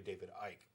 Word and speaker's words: David Icke: it wrong anyway because i would have pronounced it as ick and it's actually david ike okay so i would